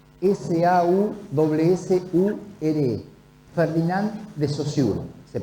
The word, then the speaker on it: Saussure: Saussure, Ferdinand de Saussure se pronuncia.